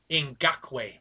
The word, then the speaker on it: Ngakoue: Josh just killed the pronunciation there. Can we hear that again? Can you do it again? Yannick Ngakoue.